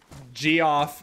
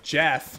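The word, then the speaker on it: Geoff: an idiot again and G off or sorry Jeff even when spelled with a G is still Jeff yeah is it Jeff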